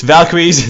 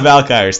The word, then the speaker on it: Valkyries: possibly and pumpa Valkyries I know it's Valkyries not valky thank you I actually